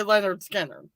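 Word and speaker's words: Lynyrd Skynyrd: list and you went they actually had to put a pronunciation underneath as if anyone doesn't know how to say leonard skinner nerd skin nerd is exactly what the it says so right off the f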